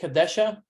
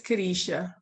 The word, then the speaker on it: Kadisha: So how about we start with, do I pronounce this right? Is it Kadesha? It's Kadisha. Kadisha.